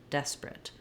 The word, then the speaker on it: desperate: But because the des syllable is stressed, that's where my clear vowel is, and now my A is more of a reduced I sound, rit, desperate.